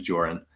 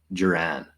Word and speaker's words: Joran: my full name is joran and a lot of people also like who don't know the pronunciation they say Jiran just like Kiran so I I got